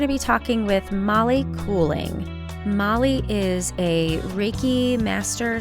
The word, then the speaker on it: Coeling: person would pronounce it I totally want to make it German and be like curling well it's cooling so yeah okay it's dutch and it's cooling yeah pretty good yeah